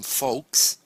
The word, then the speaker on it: Fawkes: also a name his second name his surname folks sounds a bit like Fox the animal fo